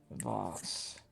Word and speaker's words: Vas: Voss, I believe. Voss? Voss. Voss. Could you spell that out so I could pronounce it correctly in the Cherry's accent? VAAS. Just VAS. Voss.